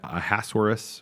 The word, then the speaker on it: Ahasuerus: In English, I think you pronounce that Ahasuerus or something like that.